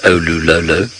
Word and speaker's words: Olololo: I shall miss not saying the word Olulolo. And for those of you who are wondering how it is spelt, because it is misspelt countless times, it is O-L-O-O-L-O. O-Lu-Lo-Lo. O-Lu-Lo-Lo.